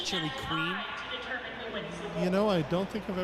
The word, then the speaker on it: Chiloquin: I used to drive through Chiloquin or Chiloquin. I've heard it pronounced a few different ways. Chili Queen.